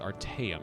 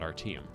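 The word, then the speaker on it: Artaeum: at the end there it's arteum not our team but whatever uh the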